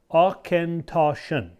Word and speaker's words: Auchentoshan: akintoshan fair being fair it's a bit of a mouthful to say and pronounce its origin derives from scotch gaelic and means corner of the field so let's say it all together ah ken toshen there you go say